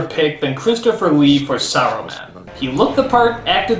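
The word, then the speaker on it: Saruman: film though is for some reason they stop pronouncing the S and simply call him aroman why is the S suddenly a bad word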